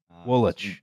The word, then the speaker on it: Woolwich: Woolwich, you know, by the way. Woolwich. Don't pronounce anything as it's spelled.